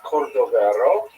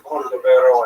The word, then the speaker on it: Cordovero: his Matseba, his gravestone, it's Cordoero. It's a Portuguese spelling, but it's kind of a strange thing to pronounce in Hebrew, so it was sort of mangled into Cordovero, and that has become the standard, even though it is probably not correct.